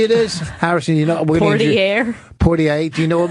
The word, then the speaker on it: Poitier: Sidney Poitier. Oh, yeah, Sidney. Poitier. You nailed it. Poitier? Poitier. No one can say it. Do you know what movie it is? Harrison, you know? Poitier.